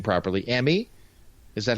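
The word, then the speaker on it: Emi: opponent what I can't pronounce her name properly a me is that how you pronounce it so Emmy Sakura yeah I mean so Sakura okay she's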